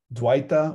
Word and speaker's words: dvaita: dualistic or dualism and remember that the v can be pronounced as a w so dui duo in italian or dos in spanish or duel in english right it comes from the sanskrit dwita or dvaita means dual or two-ish